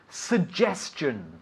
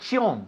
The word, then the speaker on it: suggestion: suggestion, Not chion. No, chun. Chun. Suggestion.